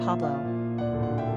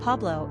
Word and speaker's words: Pablo: Popularity of the boy named Pablo Pablo has been a Spanish staple in America.